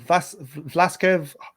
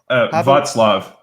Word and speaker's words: Václav: Was it how do you pronounce his name? Václav. Václav.